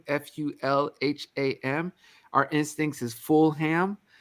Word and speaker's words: Fulham: you for having me so Joanna did I butcher the city name is it it's Fulham right no you did fantastically you didn't answer